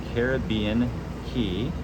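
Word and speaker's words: Caribbean Cay: That is called Caribbean Key or Caribbean K, however you would like to pronounce it.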